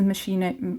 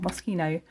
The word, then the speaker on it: Moschino: So this is Moschino, or Moschino, I've been saying it wrong, Moschino Funny.